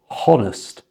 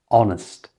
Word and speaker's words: honest: And also, don't pronounce the "h" in front of honest. It's not honest, it's just honest.